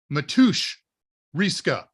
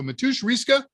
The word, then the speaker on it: Matusz Riska: Matusz Riska. He corrected our pronunciation on that the other day. So Matusz Riska, congratulations.